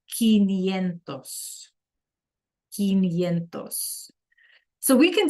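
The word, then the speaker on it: quinientos: Like in 15, those quintuplets and we pronounce it quentosentos.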